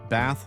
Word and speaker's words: bath: very slight change but bath ends with the th sound as in think and bathe ends with